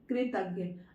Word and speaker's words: कृतज्ञ: तो ये शब्द जो है का के नीचे री की मात्रा लगी, तो का को हम कैसे प्रोनाउंस करेंगे? क्री। क्रा नहीं बोलेंगे, क्री बोलेंगे। तो कृतज्ञ शब्द क्या बना? कृतज्ञ।